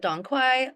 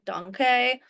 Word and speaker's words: Dong Quai: So some people call it Dong Quai, Dong Quai. There's different pronunciations, but the main thing